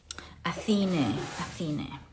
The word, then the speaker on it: Athene: Athene is how the goddess is pronounced.